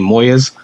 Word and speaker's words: Molles: So, like you said, for all the people that can't really pronounce Spanish right, my name is and then last name Moyes.